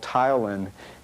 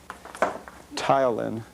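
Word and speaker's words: ptyalin: So the enzyme in the mouth is called tylin and that's spelled pt y a l i n tylin and uh it's the chemical enzyme that's used in digesting starches.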